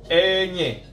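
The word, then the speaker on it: ñ: Jadi N dengan gelombang itu dibacanya enye. Enye, ya. Nggak sama dengan N biasa, ene, enye, ya.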